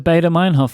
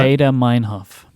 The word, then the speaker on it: Baader-Meinhof: It's the Baader-Meinhof phenomenon.